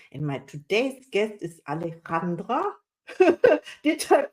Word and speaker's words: Alejandra: my today's guest is Alandra did I pronounce it right I say yeah most people call me but aleandra is fine yeah wow I'm so